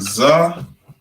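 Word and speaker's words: ז: We pronounce it Za, just like the English. You make it like a Z.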